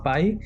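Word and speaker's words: Pie: Dentro de eso, a nosotros nos interesa uno que se llama Pi, que se escribe P-I-E, y que seguramente cuando ustedes lo encuentren se les va a ver así.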